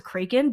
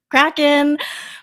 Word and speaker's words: Kraken: I don't know how I thought it was Kraken, but I just feel like that's maybe something that I grew up hearing. Maybe it's because my parents said it because they didn't know it was actually pronounced Kraken.